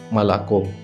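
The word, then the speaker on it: молоко: পরবর্তী অক্ষর ও, এটি ইংরেজি ও এর মতোই উচ্চারিত হয়, কিন্তু অনেক ক্ষেত্রে রাশিয়ানরা এই অক্ষরটিকে আ হিসাবে উচ্চারণ করে থাকে, যেমন মালাকো। এখানে এল এর পরে ও অক্ষরটি আয়ের মতো উচ্চারিত হয়েছে।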